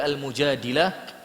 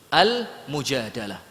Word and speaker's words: Al-Mujadilah: Oleh sebab itu dalam suratul Mujadilah atau Al-Mujadalah, ini cara bacanya sesuka antum. Boleh Al-Mujadilah, boleh Al-Mujadalah. Ayat yang ke-11 Allah Subhanahu wa taala berfirman, yarfa'illahu alladhina amanu minkum walladzina utul ilma darajat.